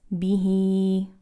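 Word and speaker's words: بِهِۦ: So same thing, you have a kasra followed by ya, it's going to be a long kasra vowel. So you're going to pronounce this bihi.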